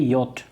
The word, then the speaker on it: yacht: योट कहा जाता है, लेकिन इसका स्पेलिंग याच लिखा जाता है, इसको याच, YACHT, ठीक है, याच, लेकिन इसका प्रोनाउंसिएशन होता है योट।